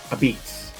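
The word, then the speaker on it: apizza: a pizza it's pronounced a beats most likely because of the heavy Northern Italian Neapolitan accents transforming basically L Pizza which with have been the way it was written into Ab Beats as the pizza makers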